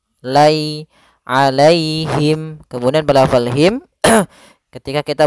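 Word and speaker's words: عليهم: lafal Alaihi alai itu ada Ya Sukun didahulu dengan fathah maka di sini kita namakan dengan bacaan Lin yaitu cara membacanya dengan bacaan yang lembut alaihim Lai alaihim kemudian padafal himim ketika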